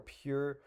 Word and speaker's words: PUR: Pure.